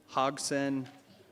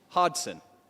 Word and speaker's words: Hodson: is presented to Hogson of Sergeant. How do you say your last name? I'm sorry. Hodson. That's way easier than I made it.